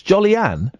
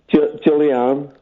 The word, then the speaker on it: Julianne: Jolly-Ann? Julianne. Jolly-Ann? Julianne, yeah. Jolly-Ann? Julie-Ann. Jolly-Ann? No, Julie. Oh, Julie-Ann. Yes.